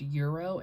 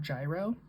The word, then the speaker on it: gyro: that I knew that it's pronounced euro and not gyro.